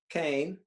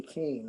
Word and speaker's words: Kean: Leslie Keane, I think it is. Hey, right? Yeah, Kane. She pronounced it Kane.